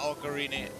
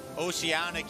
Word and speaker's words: Oceanic: yeah we raided uh ocarina it's not ocarina oceanic yesterday sorry got your